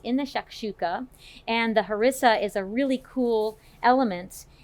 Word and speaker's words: harissa: I was pronouncing it harissa, and she schooled me that it's harissa, and so I thought, you could say it either way.